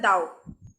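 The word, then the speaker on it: Tao: ताओ ताओ actually लिखा हुआ तो ताओ होता है, लेकिन इसका एक्चुअल प्रोनाउंसिएशन होता है दाओ।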